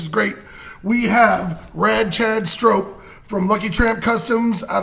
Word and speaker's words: Strop: I'm doing good, but I'm going to tell you, my name's Strop. So if you drop by for a beer sometime, you'll never forget the way to pronounce it. I said Strop.